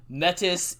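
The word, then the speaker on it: Métis: not me yeah so metis is a reference to like a canadian uh indigenous tribe and so that's what's been ingrained in me for the pronunciation of that word metis is correct metis is the name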